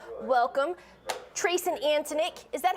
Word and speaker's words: Antonick: welcome trace and antonik is that how you say it is that how you pronounce it yes ma'am you got it all